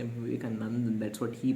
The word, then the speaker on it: Vivekananda: He couldn't spell Swami Vivekanandan, but it's okay. Sorry, why did I say Vivekanandan? That's what he pronounced. He could not pronounce Swami Vivekanand properly. Let me say that again, Swami Vivekanand.